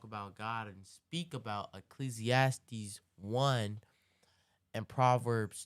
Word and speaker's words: Ecclesiastes: let's look this up you said ecclesiastics 1 Ecclesiastes say wrong okay you're right I'm saying it wrong ecclesiast one okay and